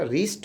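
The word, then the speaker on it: wrist: जैसे राइट, डब्लू के बाद आर आया तो डब्लू का उच्चारण नहीं करते हैं, रॉन्ग हो गया, रिस्ट हो गया।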